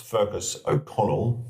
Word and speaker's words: Fergus O'Conaill: Firstly, how do I pronounce Fergus Okana? And secondly, what led you to writing? Well, it's pronounced Fergus Okonnell.